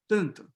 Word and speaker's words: tanto: It's just a nasal vowel, tanto, tanto, tanto, instead of tanto, okay? So it's just tanto, it's just a vowel, phonetically. Okay, can I ask a question?